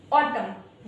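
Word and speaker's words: autumn: ठीक है, यहाँ पर गाइस जो एन है वो साइलेंट है, इसी वजह से हमने एन को प्रोनाउंशिएट नहीं किया है।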